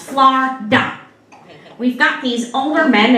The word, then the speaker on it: Florida: See, down here in Florida, that's right, it's 2 syllables, Florida.